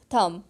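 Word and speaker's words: thumb: दबी इस सकिंग हिस थंब दबी इज सकिंग थम थम विद ध्यान रखें वीडियो होता है वह साइलेंट आप इसे हम नहीं बोलेंगे नेक्स्ट वीक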